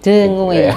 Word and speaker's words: dengue: Dengue. Itu bacanya dengue ya, bukan dengue. Kadang orang dengue apa dengue ya. Jadi memang dengue.